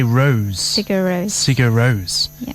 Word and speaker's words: Rós: It's actually, you're supposed to say Rose.